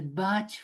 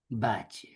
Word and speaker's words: Bach: only thing but actually if we go to English and he was English so it was to be told batch thank you very much yes thanks Hello.